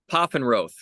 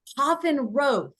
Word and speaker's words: Pfaffenroth: That's You tell us, how do you say your name? Pfaffenroth. Pfaffenroth. Yes.